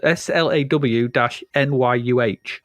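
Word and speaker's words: Sláine: so or slain it's slain to me as well but according to Wikipedia it's pronounced s-l-a-w-n-y-u-h I think it must be the Celtic pronunciation okay maybe so slain's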